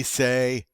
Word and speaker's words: C: called b instead we say bay bay all right so now we have a bay okay next up as always what follows b of course is c but in french it's say all right so now